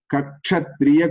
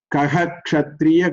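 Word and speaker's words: कः क्षत्रिय: If there is a visarga followed by ksha, visarga must be pronounced. Kaha kshatriya kule jataha, like that we have to say.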